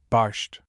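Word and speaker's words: barszcz: Pronunciation approximately, barsht.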